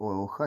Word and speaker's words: OLX: і покупок беушних товарів читається як олха типа Нолік і хрестик але народна назва його